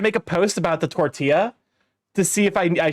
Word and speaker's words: tortilla: your own risk well you don't pronounce tortilla with the L's no no you did